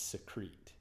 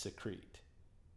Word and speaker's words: secrete: use the verb its secrete which is spelled the same way you just put an e at the end of it and it's pronounced secrete so if you say